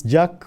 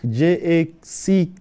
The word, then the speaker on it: Jacque: So before we went on air, her name is Jack, Jacque. So those of you who did history, didn't dodge classes, Jack is you remember how to pronounce Jean-Jacques Rousseau. She says she's not related